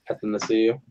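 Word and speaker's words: Athanasiou: I mean, Kudos on the pronunciation too. Anathasiu.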